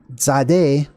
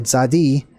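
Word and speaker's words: Tsade: how we pronounce that this T and the Z right next to each other or if you want to include the a za right this is exactly how that letter Zade or zadi is pronounced and it was drawn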